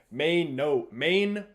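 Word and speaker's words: Mainoo: He says Main-O.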